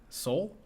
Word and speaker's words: Seoul: that SEO ul soul see it's a place all right I'm sorry s EUL s e o UL yes so soul all right okay I'm